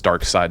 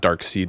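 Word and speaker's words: Darkseid: doesn't even work because it's dark side, not dark seed. But the way it's spelled I always I always always want to say dark seed instead of dark side.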